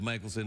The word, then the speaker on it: Michaelson: And then say, "Dear Ingrid, I am terribly sorry for pronouncing your name Mickelson instead of Michaelson, although that's the correct way to pronounce it."